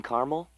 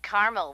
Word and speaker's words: caramel: I'd like it in caramel yeah that's what I said Tina actually you said caramel when it's pronounced caramel can't we just call